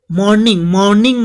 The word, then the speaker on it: mourning: मॉर्निंग मतलब MOURNING, मॉर्निंग मतलब याद रखिएगा शोकमग्न, दुखी होता है, इसका अर्थ होता है मॉर्निंग, याद रखना। आर जो साइलेंट होगा, मॉर्निंग मतलब शोकमग्न, दुखी, तो अनहैप्पी हो जाएगा इसका ऑपोजिट।